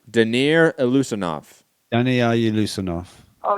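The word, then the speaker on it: Daniyar Yeleussinov: Danir Lusanov. Danny, are you Lusanov? Oh, now that you pronounce it, okay.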